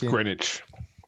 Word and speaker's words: Greenwich: which lee speaking me it's greenwich w is silent by apologies i should